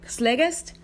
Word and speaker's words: Slegest: Slegest?